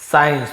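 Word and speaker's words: science: फिर साइंस, साइंस, तो यहां पर आप देख रहे हैं एस सी का ऐसे, यहां पे सी ई लिखा हुआ है, इसलिए स का उच्चारण कर रहे हैं, तो ये आपका अपवाद है। यहाँ पे एस सी का स्क ऐसे नहीं पढ़ रहे, स्क नहीं पढ़ रहे, ठीक है।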